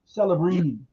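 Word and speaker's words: Celebrini: As soon as I seen this one, I I started thinking about the pronunciation part of the thing. Celabbrini. Celibbrini.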